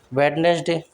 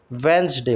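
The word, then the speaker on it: Wednesday: वेडनेसडे वेडनेसडे बोलना गलत है। वेडनेसडे होता है। वेडनेसडे। ठीक है? इसमें डिसाइलेंट होता है वेडनेसडे वेडनेसडे इसके बाद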